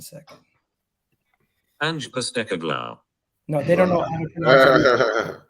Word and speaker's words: Postecoglou: Postecoglou. I seen David Ornstein. I had to make sure that I learned. Wait, can we learn how to say it together? Can you say that slowly? Postecoglou. Postecoglou.